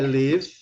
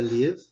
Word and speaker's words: live: Um é live, a pronúncia é live, L-I-V, e a outra é live.